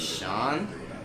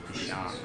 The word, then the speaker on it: Deshaun: My name is Sean. Nah, it's not Sean. It's S-H-A-U-N. It's D-A-S-H-A-U-N. Deshaun.